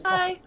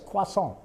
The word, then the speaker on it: croissant: Um Uh croissant. That's the way we But if you if en français, it's qua-sont. If you say en français, it's qua-sont, right?